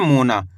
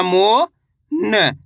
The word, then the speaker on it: मोन: अगर ना पढ़ोगे तो मोना उच्चारण हो जाएगा।